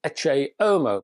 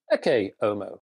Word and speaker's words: Ecce Homo: to the film, well, some people call it Ecce Homo. Oh, because, as you can plainly see, I have a classical Latin approach to life, so I pronounce this one Ecce Homo.